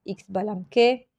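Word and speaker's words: Xbalanqué: de pelota tiene un nombre bastante difícil para pronunciarlo como se debe lo mejor es repetirlo al menos cuatro veces xbalamque xbalamque xbalamque xbalamque hunah hup es el otro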